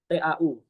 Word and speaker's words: tau: huruf O itu teman-teman bacanya bukan O tapi bacanya tahu tau tahu.